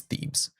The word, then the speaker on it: Thebes: It is Thebes, like bees. Thebes.